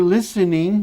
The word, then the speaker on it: listening: Porque esse T, ele não é pronunciado, da mesma forma que esse D não é pronunciado. Ou seja, eu tenho uma série de palavras em inglês que tem letras mudas. No caso aqui, o T é mudo, você não pronuncia T.